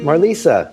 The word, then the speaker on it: Marlysa: I had with Marisa hi Mar Marisa yes hi how are you good um thanks